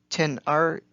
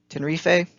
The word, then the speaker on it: Tenerife: I'm probably pronouncing this wrong, because I very rarely actually hear it pronounced, but Tenerife, can't pronounce it correctly, Tenerife.